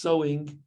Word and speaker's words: sow: who english is not their first language is pronounced sowing but it means putting something into the ground